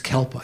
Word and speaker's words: kalpa: uh four eons or kalpas the sanskrit word is kalpa you've heard of that right sounds like some kind of dog food doesn't it for calpos so or